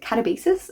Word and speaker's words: Katabasis: But going on to a writer that I really love is Katabasis, and I'm going to pronounce this way because I looked it up. RF Quan said this was originally how she pronounced it.